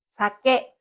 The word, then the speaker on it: 鮭: Saumon 鮭さけ Saké 酒さけ Le mot さけ qui signifie « saumon » se prononce avec un aigu à l'avant, et le mot さけ